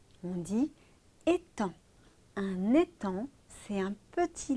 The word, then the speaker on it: étang: Souvenez-vous, le vilain petit canard, il nage sur un étang. Attention, on ne prononce pas le G. On dit étang.